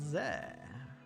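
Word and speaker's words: ゼ: ぜ This is ze. Pronounce it as ze, like in the word zen.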